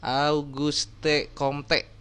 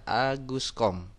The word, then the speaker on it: Auguste Comte: pertama kali diperkenalkan oleh Auguste Comte Pasti kalian bacanya gitu ya yang sebenarnya atau yang betul adalah Agus com pada tahun 1798 sampai